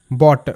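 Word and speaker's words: bought: পরবর্তীতে বট। বি ও Yuji HT বট। বি এর sound ব ইউ জি এস টি এর উচ্চারণটা অট ব অট বট যেমন ছিল থট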